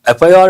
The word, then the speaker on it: FIR: Though the letter, first letter is a consonantal letter, F, it is pronounced as F. It has a vowel sound. Based on that, we have to say an FIR.